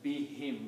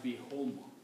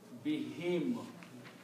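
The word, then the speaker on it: بِهِمْ: When we read these together, for easy pronunciation, we pronounce as be him, not be whom. Okay, so that's a tajweed. Read. So this word, when you combine together, will be pronounced as be him.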